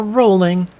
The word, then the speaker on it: Rowling: Rowling, or Rowling, as her name is supposed to be pronounced, but J.K.